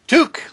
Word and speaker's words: Tuque: checked it took took like a Canadian excellent I love it